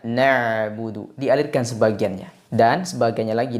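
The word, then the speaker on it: نَعْبُدُ: sifat tawasud atau bainiah jadi diingat suara pada pengucapan huruf Ain dialirkan sebagian tidak ditahan semuanya tidak dibaca na buudu seperti huruf hamzah tapi dibaca nabudu dialirkan sebagiannya dan sebagiannya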